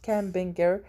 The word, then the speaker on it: campaigner: ننتبه إنه الجي هون sorry it's not campaigner ولكن campaigner. it's silent G هون.